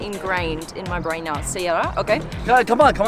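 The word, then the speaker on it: سيارة: Car, sayara. Sayara. How do sayara. I not know this? Sayara. Okay, then that's going to be ingrained in my brain now. Sayara, okay.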